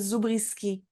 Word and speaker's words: Zubrzycki: pronounce my name because in Canada we pronounced it zisi you know um because